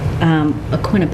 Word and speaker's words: Aquinnah: there but also being on a newer Street aquinnah path which is pronounced that way by the way a man